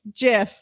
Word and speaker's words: GIF: gifts g g i f all capitals gif jiff live your best life anyway um so joanna